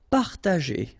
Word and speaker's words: partager: Partager, okay, parta, and then here, G and E after, well, R in that case, it's the sound E, so you pronounce it J, G, okay, partager, partager.